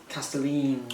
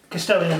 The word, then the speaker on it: Kastelan: Kastelan robots. Kastelan robots, yes, that's true.